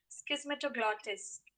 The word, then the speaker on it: Schismatoglottis: the right pronunciation of the word would be schismetroglottis the right pronunciation of the given word would be schismetaplotis